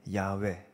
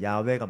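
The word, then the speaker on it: 야훼: 여호와라는 것에 좀 더 정확한 히브리어 발음은 사실 야외입니다. 야외. 왜 여호와가 됐는지도 말하려면 좀 시간이 많이 걸립니다. 근데 그냥 아시면 되겠습니다. 원래 야외가 맞습니다.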